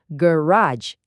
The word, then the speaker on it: garage: Hati-hati ya cara bacanya, garage.